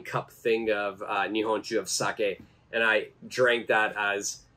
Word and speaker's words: sake: call it saki right and even that the pronunciation is wrong it's not saki but it's sake Sak and sake actually means alcohol it doesn't